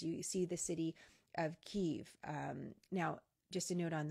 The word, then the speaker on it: Kyiv: But we're using Kyiv because that is our understanding of the way the Ukrainians refer to their capital city. Kiev is the Russian pronunciation, so that's why we're continuing to use that.